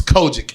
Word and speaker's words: COGIC: I forget the smart person word for it, but it's COGIC, which is Kojic.